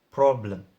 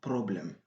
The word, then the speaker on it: problem: Il a dit problème, problème. Non, ça, c'est les R africains, ou bien les R qui existent dans la langue arabe. Et ça n'existe pas en anglais. Donc, en anglais, on dit problem. Donc, on ramène la langue derrière. Et comme ça, on va avoir la bonne prononciation.